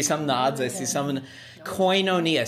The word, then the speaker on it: koinonia: Koinonia, so it's spelled K-O-I-N, so coin but with a K, and then O-N-I-A, so koinonia. It's the Greek word, it's translated fellowship.